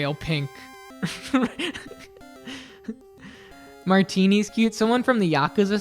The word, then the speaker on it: Martine: I have a friend with the last name Martini but it's m a r t i n